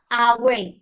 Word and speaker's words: hour: Jam bahasa Inggris itu hour. Bacanya hour.